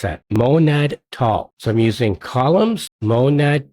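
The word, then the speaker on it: MonadTall: How do you pronounce that? Monad tall.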